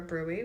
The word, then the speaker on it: BRUE: And basically, they explained that it was a brew or a brewy, which is a brief resolved unexplained event.